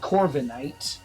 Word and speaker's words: Corviknight: Yeah, but a 7 foot tall raven is called Corviknight. That's a good name, actually. I like the name. It's decent. Would you possibly not have seen it? Is it Princess? Corvinite? No, it's Knight.